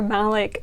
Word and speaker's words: Malik: I thought it was either Malik or Malik, and it's Malik.